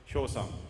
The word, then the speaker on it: Hyosung: Actually, Hyosung is very difficult to pronounce. I know, because it's a Korean word. So sometimes, Hyosung, Hyosung, something like that. But actually, we have to pronounce it Hyosung.